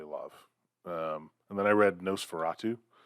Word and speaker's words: NOS4A2: And then I read Nosferatu. It's but the one by Joe Hill that's spelled NOS4A2, which looks like a license plate on the cover.